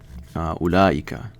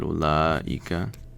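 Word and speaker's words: أولئك: And we know that ulaika, okay, if that's how you spell it, ulaika.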